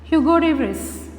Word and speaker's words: Hugo de Vries: Hugo de Vries. What is the pronunciation? Hugo de Vries.